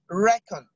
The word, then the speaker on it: reckon: different stress pattern is reckoned because the stress is on the first syllable reckon all those are the